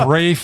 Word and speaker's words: Ralph: I don't know why I can't pronounce his name spelled Ralph because it's Ralph. Let's face fact. He tells us it's Rafe.